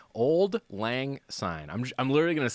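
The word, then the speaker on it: auld lang syne: So, old is old. The last word is like sign. Like I saw the sign and it opened up my eyes.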